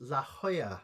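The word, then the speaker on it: La Jolla: Ya Lola is pronounced La Hoya. Ah, La Hoya.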